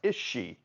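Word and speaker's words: Aos Sí: is spelled a oos space SII and it's pronounced is she well we know someone's racist against the Irish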